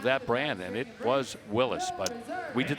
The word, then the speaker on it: Willys: The drag racers got a hold of that name and started calling him Willys. Yep. But go back to the beginning days of that brand and it was Willis.